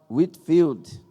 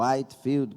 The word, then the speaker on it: Whitefield: Também George Whitefield, ou Whitefield, como outras pronúncias.